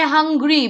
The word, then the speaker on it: hungry: You say hungry because vowel is there.